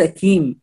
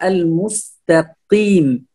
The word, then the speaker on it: المستقيم: هنا اهدنا الصراط المستقيم ليس كيم، الكاف حرف والقاف حرف، هنا القاف مكسور فنقول المستقيم، المستقيم ليس كيم، المستقيم.